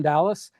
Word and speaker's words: Dallis: and I tell people even though it's pronounced like the city I'm an is not